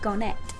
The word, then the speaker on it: Garnet: I've just never heard it pronounced Garnet. That's all. I've never heard the emphasis on the et.